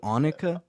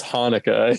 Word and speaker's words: Hanukkah: of the jewish like is that how you pronounce it in hebrew annika no it's hanukkah he just didn't know